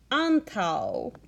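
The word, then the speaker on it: antaŭ: So this word is antau, which means before. Antau. Pay attention to how you say the vowels when you say this word. Antau. Note how both of the A's say ah.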